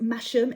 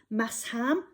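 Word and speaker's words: Masham: of massim spelt m-a-s-h-a-m not pronounced mashem it's mass ham massim um 75 massim 25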